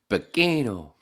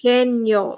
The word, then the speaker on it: pequeño: Pequeño. The N with the little squiggly sounds like a Y in English.